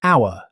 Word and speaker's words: hour: Hour. Just like honest, the H is completely silent. Native speakers pronounce it hour.